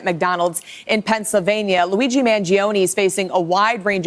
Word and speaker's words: Mangione: capturing his every move mangion then stood in front of a judge who explained that he could be extradited the way she's mispronouncing his name is driving me off the wall it's Manon to New York City